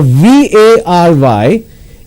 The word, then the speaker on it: vary: Now VARY is pronounced as vary. For example, the results vary from the efforts, means they are different. But here I want to say very, which is VERY.